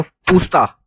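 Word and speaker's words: Puszta: ठीक है, then we have पूस्ता, Z silent होता है इसका, पूस्ता इज इन हंगरी।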